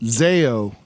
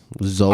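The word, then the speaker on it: Zoé: Zayo. The band Zayo. Zoe. Okay. Zoe.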